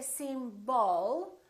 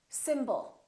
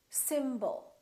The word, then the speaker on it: symbol: we have two syllables the first syllable is stressed and the second syllable is reduced when we have a reduced vowel we don't pronounce it fully we don't say sim ball we reduce it and